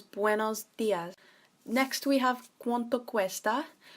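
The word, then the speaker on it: buenos días: Now it sounds like you're saying when for the buenos, but you're adding a B at the front, so it becomes buenos dias.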